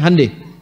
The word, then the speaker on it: Hyundai: Hyundai itu dibacanya Hyundai.